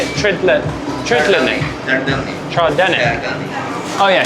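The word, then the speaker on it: trdelník: Treadlinic. Treenic. Troenic. Oh yeah. Treenic.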